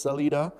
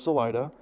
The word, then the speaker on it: Salida: That's how we pronounce it. I know that technically it's Salida. Yeah. But no, everybody there says Salida.